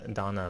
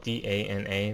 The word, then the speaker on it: Dana: By the way, Donna is spelled D-A-N-A. That's not really relevant, but it's not D-O-N-N-A. And in real life, we would pronounce it as Dana, but this is not real life.